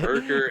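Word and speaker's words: Merkur: it because it's so like nobody could Yeah, pronounce it's a it Merker because they couldn't, XR4 because Ti.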